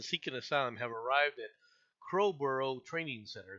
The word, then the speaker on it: Crowborough: 27 men seeking asylum have arrived at Crowborough Training Center. Is that how you say it? Yeah, that's about right. Okay. I'll go with Crowborough.